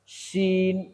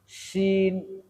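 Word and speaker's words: شين: শিন, শিন, শিন। এই শিন উচ্চারণটা 2 দাঁতের মাঝখানে মাড়ির সাথে জিহ্বাটা স্থায়ী হয়ে থাকবে এবং চাপ দিয়ে উচ্চারণ শিন, শিন।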